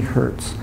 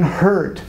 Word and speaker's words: Hertz: it what's this one Hertz right it's not one hurt I actually heard a